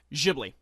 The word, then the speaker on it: Ghibli: Okay, am I pronouncing it right? Ghibli or Ghibli? Ghibli.